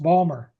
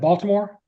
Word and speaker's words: Baltimore: I thought it was pronounced Balmer instead of Baltimore. Oh, Terri. I'm from the county, so I might pronounce it Baltimore a little different. I actually live in White Marsh, Maryland, but I'm right outside of Baltimore. So that's the reason why I may pronounce it a little differently.